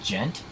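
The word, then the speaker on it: djent: how familiar you are with with gent i think that's how you say it jack yeah i am not it's it's spelled d j e n t and it's it's it's essentially supposed to be like an onomatopoeia for the sound that the guitar makes so it's sort of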